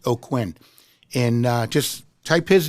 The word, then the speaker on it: Aucoin: And you spell his name, his last name is Aucoin, and it's pronounced Aucoin.